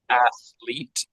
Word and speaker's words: athlete: let's try athlete again athlete excellent good with the stress on the first syllable athlete excellent that's good